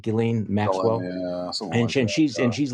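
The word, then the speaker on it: Ghislaine: on an airplane with guillain is saying you pronounce it gillen maxwell and she's and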